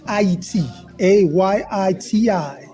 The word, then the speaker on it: Haiti: a Yi TI this is the correct way to say Haiti well we're getting education